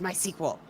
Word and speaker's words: MySQL: for WordPress things, and I heard it as MySQL. It is how I. It's stubbornly about that one. And that is also something that if it doesn't hurt anybody, that I'm learning to just let it go if other people do it differently. This is one of them because I'm like, no, it's my sequel.